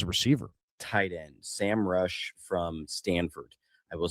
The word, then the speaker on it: Roush: I pronounce it Roush.